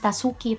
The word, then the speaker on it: Tasuki: Ang mga Hapon, kapag silent letter, they just, you know, yung su, su, ru. Ayan. So, Tasuki talaga yan.